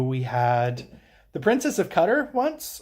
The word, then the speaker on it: Qatar: We had the Princess of Qatar once. Apparently lots of people pronounced that Qatar. But they pronounced it Qatar, and I wasn't going to argue with them because they were escorting the princess.